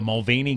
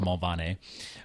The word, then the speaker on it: Mulvaney: more Irish than that, if you go to Ireland, which I have, it's actually pronounced Mulvaney, but it's we're a thick clan, man.